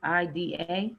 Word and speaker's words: Placida: It's like F. It's just the way it's spelled but with F. Yeah, it's Placida. So yeah, like Flacita. Yeah.